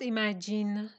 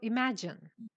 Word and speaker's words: imagine: just woke up from it's not imagine it's a short e so imagine imagine imagine yes yes